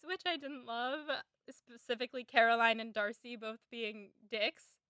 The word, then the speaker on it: Caroline: As an expert on being named Caroline, what insight can you give us into Caroline Bingley? It's not pronounced Carolyn. That's what I got.